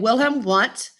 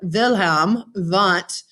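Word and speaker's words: Wilhelm Wundt: picture from 1879 and wilhelm want um and really the w should be pronounced as a v of the sound wilhelm vent in german um open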